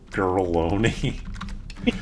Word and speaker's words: Girlogna: Name her, Uh, girl, name her Girloni, but spell it like baloney. oh. Girlogny. Wait, let me. Bologna. Okay, so it's Girloni.